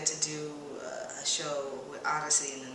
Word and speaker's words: Odyssey: So I pronounce it Odyssey, and some people pronounce it Odd IC, and it could be interpreted either way.